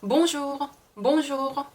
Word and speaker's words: bonjour: bonjour. 절대 R 발음이 르가 아니라 흐예요.